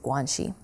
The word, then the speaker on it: guanxi: You hear about the concept of guanxi, and when I talk about various aspects... Spell that.